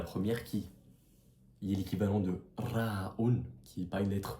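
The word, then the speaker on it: راء: Mais pour prononcer le Ra'un en arabe, il ne faut pas faire vibrer la luette comme on pourrait le croire. Il faut faire vibrer la langue.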